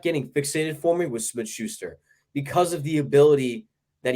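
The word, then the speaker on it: Smith-Schuster: next okay um interesting start I'm a JuJu Smith Schuster Stan oh you said it right oh I'm always going to say Smith shoe story he's a former stealer um they didn't play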